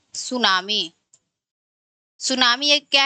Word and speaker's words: सुनामी: सुनामी एक क्या है?